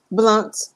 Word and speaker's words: Blount: hey so now how do you pronounce your last name blunt blunt okay I was just